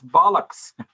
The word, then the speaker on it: bollocks: to take part and you mispronounced the word it's bollocks uh yes yes i